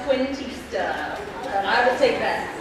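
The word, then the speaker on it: Cuentista: The Last Christina. That is correct. It's pronounced Quintista.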